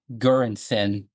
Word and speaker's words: Göransson: I mean, Ludwig Göransson.